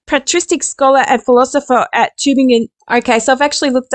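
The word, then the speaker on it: Tübingen: than Bower a patriotic scholar and philosopher at tubing in okay so I've actually looked up the pronunciation of this name and it's tubing gun Albert schwigler gave the schools theories their most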